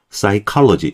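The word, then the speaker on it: psychology: P하고 S가 붙었어요. P 발음은요, 그 S 발음은요 정도 되죠. 그러니까 이걸 둘 다 발음을 하려니까 너무 힘든 거예요. 같이 이어사기가. 그래서 뒤에 있는 Y가 발음해 줄 때이 중에 그이 피사운드를 발음을 안 해 버리는 거예요. 그래서 묵음이 돼 가지고 사이로지 심리학이란 단어입니다. 사이로 이렇게 발음해 주는 거고요.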